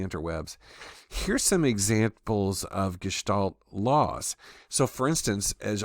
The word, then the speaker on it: Gestalt: of behaviorism for instance gestal psychology and by the way it it's pronounced with an sh it's German so the the suggestion